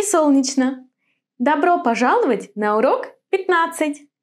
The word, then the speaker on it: Солнечно: Do you pronounce the combination chn in this word? Chn or shn? In this one, it's gonna be chn. Солнечно.